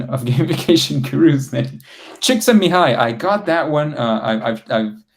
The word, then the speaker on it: Csikszentmihalyi: Is there a game to learn pronunciation of gamification gurus? Csikszentmihalyi, I got that one. I've practiced it quite a bit. Csikszentmihalyi, Mihai Csikszentmihalyi is the name of the one that Altu was mentioning in the chat.